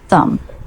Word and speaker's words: thumb: Thumb, silent B, pronounced thumb.